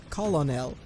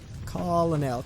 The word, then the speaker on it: colonel: It took me so long to actually learn how to pronounce Colonel when I was a kid. Because it's not how it's spelled. Colonel. Colonel.